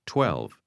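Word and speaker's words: 十二: 12蚊港幣，12，12， 12 is pronounced with a low level tone. Say again, 12.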